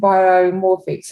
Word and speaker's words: Biomorphics: And so tell me a little bit about the story behind Biomorphics. Am I pronouncing it right?